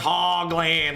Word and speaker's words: Hoagland: It's pronounced Hogland, like a pig.